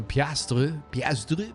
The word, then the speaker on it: piastre: Apparently there's black, so piastre, that's how you say it.